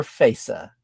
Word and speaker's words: FASA: By the way, Greg, is it FASA or FASA?